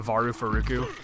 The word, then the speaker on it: Valfalk: But if you like Americanize its translated name, it's a Varufaruku. But if you say it like you're Japanese, it's Varufaruku!